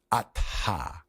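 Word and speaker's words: atha: In Sanskrit, uh, H's are letters that are aspirated as opposed to like a compound sound like a th in English, like my name.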